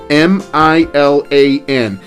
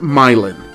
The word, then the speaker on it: Milan: way myelin is spelled m-i-l-a-n and it looks like it should be pronounced milan as in milan italy but in indiana they pronounce it myelin anyway milan high school